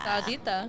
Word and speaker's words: Sarita: Sarita. You can just replace the R with the D. Or with the D. Sarita? Sarita. Sadita.